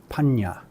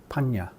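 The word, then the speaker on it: paññā: And this is pronounced as nya, as in hung, So for example, the Pali word for wisdom is panya. P with these nya, a, panya.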